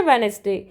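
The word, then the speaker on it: Wednesday: Next है वेनेसडे, तो वेनेसडे में डी जो है साइलेंट होता है, इसे हम नहीं बोलते हैं, क्या बोलते हैं, वेनेसडे, WENESDAY।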